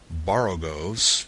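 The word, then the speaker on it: borogoves: to rhyme with groves again the first oh in borrow goes is pronounced like the o in borrow I have heard people try to give it the sound of the O and worry such as human perversity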